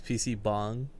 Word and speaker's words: PC bang: Did you just pronounce PC bang as PC bong? Because it is.